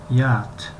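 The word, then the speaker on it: yacht: یات و یات حرف سی و اچ تلفظ کرده نمی شوند یا خوانده نمی شوند.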